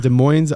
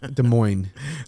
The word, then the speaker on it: Des Moines: is coming out of Des Moines Iowa Des Moines you don't you don't pronounce you don't pronounce the S yeah can I ask